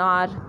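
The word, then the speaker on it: hour: Example दिया एन आर, आर में H silent है, हम लोग क्या बोल रहे हैं? ओ यू आर, कोई प्रोनाउंस कर रहे हैं, तो इस वजह से इसके आगे क्या बोल देंगे? आर्टिकल एन लगा देंगे।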